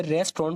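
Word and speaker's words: restaurant: out date new रिस्टरूम तो इसे रेस्तरां पढ़ा जाएगा ज्यादातर लोग इसको गलत प्रोनाउंस करते हैं आगे का रही है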